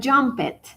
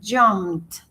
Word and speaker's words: jumped: Otros tienen una pronunciación un poco más enfocada en la T. Jump. Yo no digo jumpet, que muchas veces metemos ese error, ¿no?